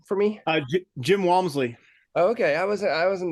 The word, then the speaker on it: Walmsley: you say his name for me uh Jim Walmsley okay I was I wasn't that far um